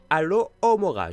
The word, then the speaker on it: Alohomora: Donc, Alors, c'est Alohomora. Je vais vous dire comment ça s'écrit. A-L-O-H-O-M-O-R-A.